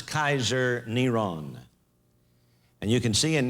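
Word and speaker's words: קיסר נרון: five volume set this his name was pronounced as Kaiser neron and you can see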